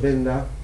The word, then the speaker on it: Venda: Estos jamás se han encontrado, Benda se escribe con V, jamás hemos encontrado un Benda no musical.